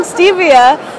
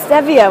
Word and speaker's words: Stevia: actually I was corrected I've been pronouncing Stevia this whole time but it's Stevia which sounds even better so check them out what